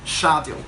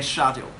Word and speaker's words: schedule: accent, you can pronounce schedule. Okay, schedule. Okay, so you can have schedule in American English or schedule in British English.